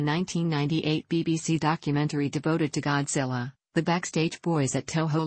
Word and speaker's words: Godzilla: the anglicized form is with the first syllable pronounced like the word god and the rest rhyming with gorillas in the Hepburn romanization